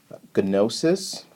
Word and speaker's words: gnosis: The G is silent, and the word comes from the Greek word gnosis, and in ancient Greek, the G is pronounced.